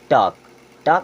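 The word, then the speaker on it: talk: silent हो जाता है जैसे यहां पे टी ए एल के लिखा है इसे हम पढ़ते हैं टक टक मीस होता है बातचीत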